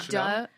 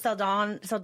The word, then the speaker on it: Saldana: Zoe Chanel? No, Saldana.